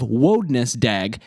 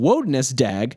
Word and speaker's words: Wodnesdaeg: The pronunciation of Wodnesdaeg differs from the pronunciation of Wednesday in two obvious ways. First, the initial vowel sound in Wodnesdaeg is an O sound, not an E sound. And second, the D in Wodnesdaeg, which has fallen silent in Wednesday, is still pronounced.